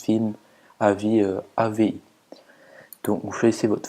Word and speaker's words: AVI: Windows c'est film avis donc comme ça se prononce film avis AVI donc vous choissz votre format et vous